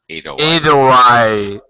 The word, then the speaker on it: Edelweiss: Actually, Fabio was very comfortable with her at that moment, and I don't know pronounce Edelweiss. Edelweiss.